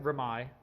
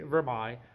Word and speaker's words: Vermeil: Okay, so you could pronounce it Vermeil, if that's how the French is, like Versailles. So it could be Vermeil. Vermeil is actually the English pronunciation, and you have to